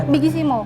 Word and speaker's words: Bigissimo: Bigissimo bacanya ya? Bigissimo.